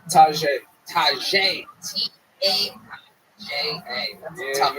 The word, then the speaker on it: Taja: Taja. Am I saying that right? Tajay. Tajay. T-A-J-A. That's a tough one. Everybody pronounces that one, right?